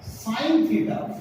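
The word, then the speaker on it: sine: SIN थीटा, साइन थीटा, full spelling ये है साइन की, और बोलते हैं हम इसको हिंदी में इस तरीके से साइन।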